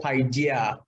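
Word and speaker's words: παιδεία: The word discipline in this text or in that text is the Greek word called paideia. Paideia. It's spelled P-A-I-D-E-I-A.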